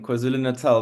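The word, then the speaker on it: KwaZulu-Natal: me Francis and well done with the the pronunciation quaz Nal not easy for people from abroad to be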